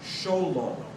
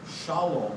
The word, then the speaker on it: Shalom: Sholom. Sholom. Xol ho. That's more Ashkanazi, Russian and Polish. Shalom would be more South European if if my memory serves me right.